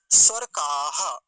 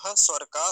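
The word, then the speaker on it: स्वरकः: बात यह है कि का के तुरंत बाद क्या है विसर्ग है और बहुत सारे लोगों को मैंने ऐसा देखा है उच्चारण करते समय कि इस विसर्ग को नहीं बोलते और सीधा कैसे बोलते हैं देखिए मरुत स्वर का स्वाहा ऐसे बोलते हैं मरुत स्व का स्वाहा तो स्व का नहीं बोलेंगे स्वर काह यानी विसर्ग जो है उसका उच्चारण करना है छोड़ना नहीं है छोड़ेंगे तो फिर पाप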